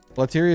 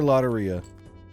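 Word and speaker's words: Lotería: 1 for Lateria, 2 for Loteria. Spanish. You pronounce it like Spanish? But I pronounce Spanish as Spanish. Loteria doesn't have P's and S's in it. Loteria like diarrhea.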